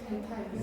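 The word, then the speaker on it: Δx: 읽을 줄 알아요? 뭐라고 읽어요? 아, x 왜 읽으려다 말아요? 델타 x 맞아요. 델타 x예요.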